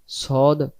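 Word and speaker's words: ص: ধরে যেমন করে ডাকছি সদটা গোল উচ্চারণটা গোল করে ছেড়ে দেব সদ জের সদ জের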